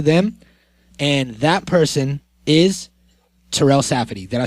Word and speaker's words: Terell Safadi: And that person is Terell Safadi. Did I say it right? Yep. Okay, Terell Safadi.